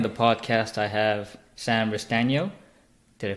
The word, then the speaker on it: Restagno: again today on the podcast I have Sam Reece Daniel did I pronounce that right you did an extra surprise